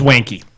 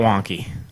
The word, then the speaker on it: Wanky: It's Wanky. Yep. Wanky. Yes. Wanky janky. Janky wanky. But not Wonky. Nope, not wonky.